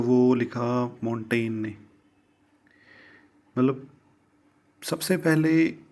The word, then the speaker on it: Montaigne: वाला था मिशेल दी मोंटेग्न था वह जो आप कहोगे कि मोंटेग्ने है यह मेंटेन क्यों कह रही हैं चलिए यहां पर जी साइलेंट है दूसरा एक आसान क्वेश्चन